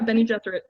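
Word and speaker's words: Bene Gesserit: by the how do you say it benny benny jesuit women how did you say that yeah benny jethro that's right benny jesuit yeah so that that's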